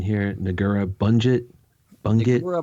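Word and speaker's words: Negură Bunget: Uh, somebody correct my pronunciation here. Nura Bunget Bungit. Nura Bongut.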